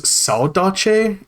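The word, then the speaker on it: saudade: But then the word is saache. It's spelled like s a u d a d e.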